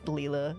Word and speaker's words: Lla: it's Lea hey lla Leela is more it's spelled lla but it's Leela it's silly that's right